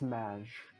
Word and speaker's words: Maj: It's pronounced Maj. Oh, sorry, Yes. Muj Academy. Maj. Like mashed potatoes.